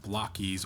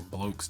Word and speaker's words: Blokees: We have Blokees or Blokes, depending on where you've heard it. I've heard it pronounced two different ways. We're gonna go with Blokes for the video.